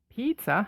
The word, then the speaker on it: pizza: s uh in up it's crazy to think that pizza is pronounced without a z sound given a fact that is written with two z's on to our second